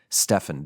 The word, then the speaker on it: Stephen: h n Steven and I can never read that without just wanting to call it stepen or Stephen Stefan Stefan Stefan that's it like Stefan Stefan wolf Pope Steven I